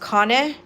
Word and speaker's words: Cane: Um, also known as Kanorsos, which spelled when you, it's pronounced Kane, but it's spelled cane like C A N E.